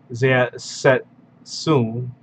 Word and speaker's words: Zersetzung: So Zeng is a German word pronounced Zersetzung, referring to special tactics